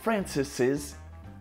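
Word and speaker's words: Francis's: the second s but even if it's written without the second s it's more common to pronounce the second s to make it clear so even if it's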